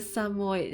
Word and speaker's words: Samoyed: It's a Samoyed. How to pronounce it?